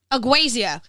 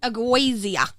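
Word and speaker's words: ageusia: still don't know how to pronounce it all spell it for me a g e u s i a aasia yeah yeah aazia the loss of sense of taste I don't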